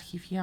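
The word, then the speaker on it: Heafy: this one this single in particular has Matt Hefe on it am I saying that right yeah well I've heard Matt Hefe met he he however you want to pronounce it however but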